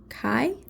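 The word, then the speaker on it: chi: X in xmus represents the Greek letter Kai I think that's how you pronounce it which is the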